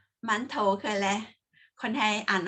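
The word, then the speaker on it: 馒头: เส้น ๆ นะคะ อ่าน ว่า หมา น โถ หมั่นโถว หมั่นโถว กัน และ คน ไทย อ่าน ว่า อะไร คะ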